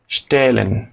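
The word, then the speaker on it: stellen: বা সেট করে রাখা খেয়াল করুন এটা সাধারণত তালব্য স এর মত উচ্চারণ হয় কিন্তু তালব্য স এর নিচে ট বাংলা বাংলায় লেখা যায় না দেখে আমি মূর্ধন্য স দিয়ে লিখে দিয়েছি স্টেলেন স্টুডিয়ারেন স্টাডি করা জুখেন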